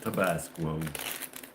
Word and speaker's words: Tabasco: They call it Tabasco.